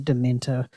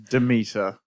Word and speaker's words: Demeter: And Dracula, The Last Voyage of the Dementor with 6.5 million. Demeter. Oh, did I say Dementor?